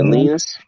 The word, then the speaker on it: Linus: Linus or some shit like that? Linus or something like that. Yeah, Linus. Just think about penis.